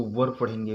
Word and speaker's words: were: इसको वर पढ़ेंगे, वेयर नहीं पढ़ेंगे। बहुत लोग इसका उच्चारण गलत करते हैं, वरी पढ़ते हैं, वेरे पढ़ते हैं, लेकिन इसका सीधा सच्चा सही उच्चारण है वर।